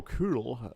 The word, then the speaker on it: Kühl: Victor's opponent, Mario Kühl, if I'm pronouncing the German name right. The German native speaker says I did.